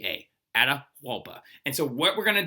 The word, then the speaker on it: Atahualpa: know who he is his his name is ada huapa and the way you spell that is a t a h wait a t a h a u l p a atahualpa and so what we're gonna do right now